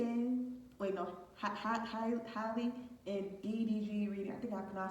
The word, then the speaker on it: Hallie: Hey everybody, special keep back another reading, and this is going to be a a Haley and wait no Hallie and DDG reading. I think I pronounced her name wrong.